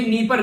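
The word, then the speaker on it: Dnieper: ये नीपर river है, D silent है यहाँ पर, नीपर आप लोग इसको बोलेगा, ये यूक्रेन के अंदर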